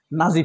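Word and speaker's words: Nazi: আচ্ছা বলেন জার্মানে যখন হিটলারের পতন হয়েছিল নাজি পার্টি বা নাচসি পার্টি যে যেই প্রোনাউন্সিয়েশনে বলেন না কেন নাসি বাহিনীর জন্য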